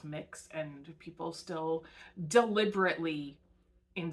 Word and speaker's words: Mx: It's MX. It's pronounced mix, and people still deliberately, in some cases, misunderstand that as miss.